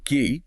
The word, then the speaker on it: quay: And the one that sounds like ki, quay. Key.